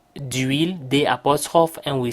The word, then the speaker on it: huile: Now you may wonder, why do we say d'huile, d'apostrophe, and we say de pain? Simply because huile begins with a silent H.